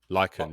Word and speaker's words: Lichen: Is it like Lichen? Lycan, yeah. Lichen.